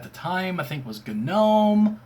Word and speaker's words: GNOME: time I think was GNOME or GNOME. Why you pronounce the G, I don't know, but GNOME.